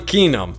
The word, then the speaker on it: Keenum: Well, I'm Kenum. It sounds like car key and I'm feeling numb from the cold, but it's spelled differently.